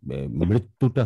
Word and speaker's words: মৃত্যু: না, এই যে মৃত্যুটা হচ্ছে না, আবার বলেন। শুধু মৃত্যু বলেন। মৃত্যু না, মৃত্যু, মৃত্যু, মৃত্যু না। আপনি বলছেন মৃত্যু। হ্যাঁ, আমি বলছি মৃত্যু, মৃত্যু। তাহলে এটাকে ঠিক করতে হবে, রিকারের উচ্চারণটা।